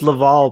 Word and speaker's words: Lavelle: i love it it's lavalle but still oh well oh that's right yeah you got it wrong unfortunately it was laval so that we get to keep it but it's it's spelt lavelle so it still goes